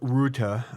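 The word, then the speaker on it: Rutte: NATO Secretary General uh his name is Mark Ruta um I'm supposed to roll my RS to pronounce it the right way but I'm I I speak the queen's English California style I never learned to roll my RS so Mark routa is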